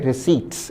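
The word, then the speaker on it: receipts: उच्चारण है रिसीट्स। इसमें पी नहीं बोला जाएगा।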